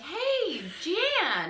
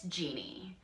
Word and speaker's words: Jeannie: And I walk in and I'm like, hey, Jeanne. And she's like, it's Jeannie.